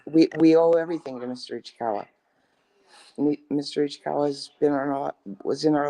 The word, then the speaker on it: Ichikawa: But you also you didn't pronounce his name correctly. You called him Mr. Ichiwa. Ichiwa.